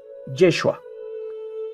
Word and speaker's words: Yeshua: de forma masiva mejor el nombre de Jesús pronunciado en hebreo es yeshua que viene de la